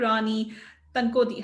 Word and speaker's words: Rani Tankodi: And today on this Millionaire Mindset Mastermind series, we're talking to Rani Tankodi. Have I pronounced your name Yes, right, Rani?